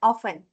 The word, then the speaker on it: often: Often. Oven. Bacanya enggak pakai T.